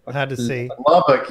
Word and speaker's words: Lubbock: Of Lubbock, Libic. It's hard to say. Hard to see. Lubbock, you said it right the first time.